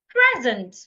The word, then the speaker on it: present: Now, what if the word has two syllables and it's a verb? Then I should stress the second syllable. An example is the word present.